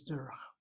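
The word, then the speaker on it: דרך: The word that comes to mind is derech. Notice how I spell it? Derech. Notice my syllabication. Accent on that first syllable.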